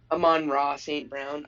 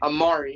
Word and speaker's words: Amon-Ra St. Brown: Amon-Ra St. Brown. All I see is A St. Brown, and I'm like, how do I say his name? What is it? I'm like, Amari.